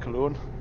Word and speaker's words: Köln: As Cologne, or as the Germans pronounce it, Köln. We pronounce it Cologne.